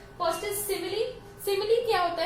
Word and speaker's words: simile: This is, आप कुछ सिमिल pronounce करते हैं, but actually the correct pronunciation is सिमिली.